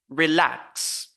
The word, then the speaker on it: relax: the phonetics e so we say relax relax we should not say relax no relax you see relax so we focus on the second syllable with a higher pitch louder and stronger relax and then we have